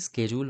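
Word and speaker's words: schedule: the tight work শিডিউল actually স্কেডিউল বলা উচিত আমরা বাঙালি তো ইংরেজদের উচ্চারণের একটু দফা দফা করতে পছন্দ করি শিডিউল বলি উড বি কাটিং ইন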